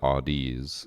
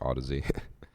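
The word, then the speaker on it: Audeze: Yeah, I thought it was Audi's and then Sharpie was like, "No, I just never told you that it's actually pronounced Odyssey." Speaking.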